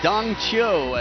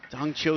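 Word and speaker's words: Dang Qiu: is the man who we've recently adapted our pronunciation of his name Dongo as he's known throughout Europe dong Cho the European champion at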